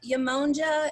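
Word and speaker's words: Yemonja: her let me give you her name uh yamongja is spelt y-e-m-o-n-j-a and smalls i will type it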